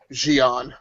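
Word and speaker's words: J'onn: Exactly, and I love the fact that Kyler Lay, who plays Alex, Cara Danvers' sister, actually pronounces it Gian. So I think that's pretty neat.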